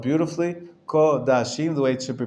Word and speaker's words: Kodashim: Kodashim, the way it should be pronounced.